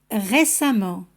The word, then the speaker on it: récemment: Il n'y a pas de différence de prononciation entre les deux suffixes, c'est-à-dire on les prononce de la même manière. Fréquemment, récemment, suffisamment. Si os dais cuenta que la pronunciación es la misma, suena como una A en todos los casos.